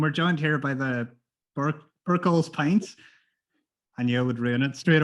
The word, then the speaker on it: Birchall's Pints: Tell us what BIRCHALL'S Pints is? Or am I even pronouncing it correctly?